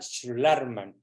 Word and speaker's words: Schlarman: Se pronuncia Schlarman.